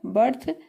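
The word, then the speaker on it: birth: में आ रहा है बर्थ तो यहां पर हमने देखा कि ई का उच्चारण औ की ध्वनि में है तो ई का जहां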